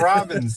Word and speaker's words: Robbins: But Robbins, like the bird.